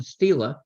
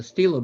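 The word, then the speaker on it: stele: connection with this was the discovery of a Stila a Steeler by the way that's spelled s-t-e-l-e it's a rectangle it's a term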